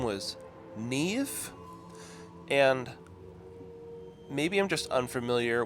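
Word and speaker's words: Niamh: said her name was Neve and maybe I'm just unfamiliar with how other languages work or how words came about but the way they spelled it is n-i-a-m-h but it's pronounced Neve based on her accent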